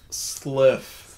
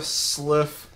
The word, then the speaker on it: sylph: Sliff. Sliff. Not a milf, a sliff. I'm not a milf! No, you say you're the sliff godling. It's not spelled like sliff. S-L-Y-P-H, okay, sliff.